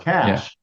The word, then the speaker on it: cache: was serious it just you know the word cash the way it's spelled is not spelled like money cash it's c h e it's like cachet but it's pronounced cash and it you know if I don't know